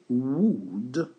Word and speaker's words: would: Donc, attention de ne pas prononcer le L. Lorsque vous avez would, comme on l'écrit, vous prononcez would et vous oubliez le L qui est ici. Donc, ça fait would smoke, vous voyez. Donc, on n'entend pas la prononciation du L. Souvent, on le prononce pour les débutants, mais une fois que vous maîtrisez, ça ne sert à rien de le prononcer, vous dites would.